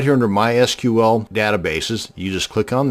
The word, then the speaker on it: MySQL: to create a mySQL database and yes it's pronounced MySQL not MySQL so the next time you're at a dinner